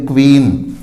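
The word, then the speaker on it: queen: इसी तरह QUWN, क्वीन। तो क्यू है अकेला नहीं आएगा, इसके साथ यू आता है और दोनों मिलकर कव की ध्वनि उत्पन्न करते हैं, ये ध्यान रखना है हमें।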